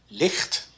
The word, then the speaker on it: licht: but in this word where the ch is not on the beginning it's pronounced more like the dutch g so we say this one licht the sch is like